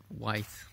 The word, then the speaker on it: Vite: And I saw this cool project called, or from Vite Labs, and I like to pronounce it White Labs, but you know, but Vite is basically rapid in French, and they're doing some cool stuff.